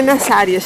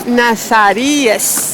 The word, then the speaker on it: Nazarías: E para a nossa pronúncia não é Nazárias, é Nazarías.